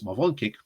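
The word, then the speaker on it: Morawiecki: polish prime minister's uh marcus marvonke that's how you say it has said that the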